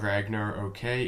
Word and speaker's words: Ragnarok: So anyway, we're looking at Ragnarok. I'm told that's how you say it. It's not Ragnar, okay, it's Ragnarok.